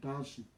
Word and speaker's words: Ekadashi: Maybe I'm not pronouncing it. Ekadashi.